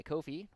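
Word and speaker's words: Ko-fi: have this document still available up on my Kofi which is apparently how you're supposed to pronounce it uh as always this will probably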